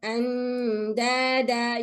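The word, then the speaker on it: أندادا: When we stop on the tanween and alif, we stop with a madda. Okay? When I stop, I have to stop with a madda. Andada.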